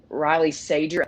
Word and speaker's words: Riley Sager: awesome yeah definitely and then one more um riley sager that's how you pronounce it very good highly recommend as a